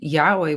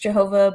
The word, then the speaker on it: Jehovah: because not necessarily correct I would say that Yahweh would be the more scholarly ensus not Jehovah no didn't they admit that that it's not actually pronounced Jehovah but that's just what public